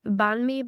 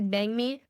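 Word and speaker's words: bánh mì: added mints like that's also bangi some people pronounce it banme but it's actually bangi um it's essentially a sandwich but you order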